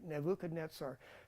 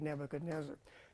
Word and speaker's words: Nebuchadnezzar: our Greek class right nebuchad netar that is the proper way to say Nebuchadnezzar now if you want